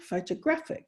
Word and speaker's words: photographic: representation or another version when you add the ic the ick at the end photographic it then changes to the third syllable and you might be